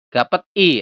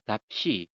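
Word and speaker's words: 값이: Bukan gapet i atau gap i kayak gitu bukan. Tapi yang benar adalah gap shi.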